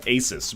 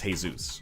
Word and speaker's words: Asus: I used to call it Asus, but then people were like, actually, it's a Swedish company. It's Jesus, or Asus.